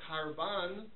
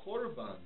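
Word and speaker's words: קרבן: But if you use the modern Israeli pronunciation, you still say kol. You don't say kal. You don't say karban. You say korban.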